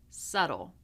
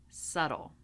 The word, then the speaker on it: subtle: So we do not pronounce the B in any of these words. We have climb, numb, womb, comb, lamb, debt, doubt, subtle. again. Climb, numb, womb, comb, lamb, debt, doubt, subtle.